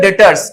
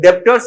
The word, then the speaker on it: debtors: तो ये होते हैं डेटर्स, ठीक है। इसमें भी ये बी है, साइलेंट होता है, इसको बी को डेप्टर्स नहीं बोलते हैं, ठीक है।